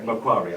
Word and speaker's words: Macquarie: Did I pronounce that right? Macquarie, I'm sorry.